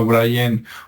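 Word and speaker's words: Brien: autor es Brian aunque se pronuncia como Brian pero se escribe con e y el apellido es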